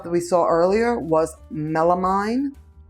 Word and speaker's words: melamine: The palm tree stuff that we saw earlier was melamine. Did I say it wrong just now again? Melamine? No, melamine. Ah.